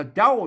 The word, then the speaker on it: เจ้า: ว่า เจ้า นะ ครับ อ่าน ว่า เจ้า เสียง ตี น่ะ เจ้า เห็น นี่ ๆ อัน